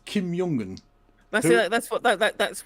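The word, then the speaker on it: Kim Jong Un: So, Kim Yongun, the the current leader of North Korea, apparently is Kimyongen.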